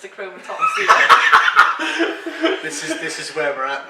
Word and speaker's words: achromatopsia: It's pronounced achromatopsia.